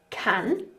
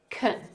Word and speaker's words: can: So with the word can, we have can with the ah sound, but we also have kun with the schwa sound, and this is a weak form. Weak forms are syllable sounds that become unstressed in connected speech, and they're often pronounced as the schwa, Can, kun, Take a look at this sentence.